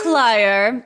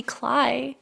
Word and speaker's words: Cler: It's Cler. Thank you very much. There is no other way to pronounce it. You can call me Cly if you want if that's easier.